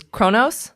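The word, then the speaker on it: Kronos: and atheria 5 is Chronos yes thank you that's how it's pronounced in English I'm saying for these Trekkies out there it's pronounced differently in Klingon 4 is hala 3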